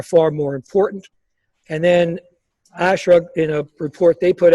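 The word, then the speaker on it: ASHRAE: by the acronym of ASHRA, I guess, ASHRA is how they say it.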